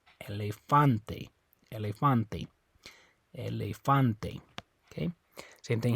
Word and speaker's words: elefante: e it's gonna be the second last syllable that a right there okay so you say la Fonte so it's not this e you don't say elephante it's not that e you don't say la Fonte um it's not this e you don't say Elefante okay it's on the a Elefante elefante Elefante okay same